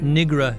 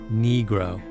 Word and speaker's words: negro: instruct the court on the correct pronunciation of negro not Negra your honor negro another time he was